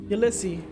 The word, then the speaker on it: Ulysse: James Joyce book Ulysses Garrett says the name English stop pronounced the final s i correct this ulyssy right that's it do